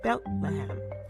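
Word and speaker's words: בית לחם: In Hebrew, the name is pronounced Bethlehem.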